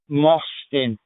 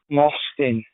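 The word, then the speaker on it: Mostyn: It's a Welsh name. It's pronounced Moston. Moston.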